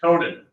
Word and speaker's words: Conan: Anyway, the next word for attendance is Conan, like Conan O'Brien.